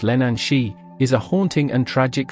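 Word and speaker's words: Leannán Sídhe: The Lenan Side, pronounced Lenan Shi, is a haunting and tragic figure in Celtic mythology, particularly in Irish and Scottish folklore.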